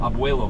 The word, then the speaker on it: abuelo: Oh, abuelo.